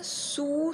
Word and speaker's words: sous: Attention, ici, le S final, je ne prononce pas.